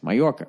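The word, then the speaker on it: Mallorca: RCA for some reason we spell it ma ll or now that makes sense my Yorker right because in latino-hispanic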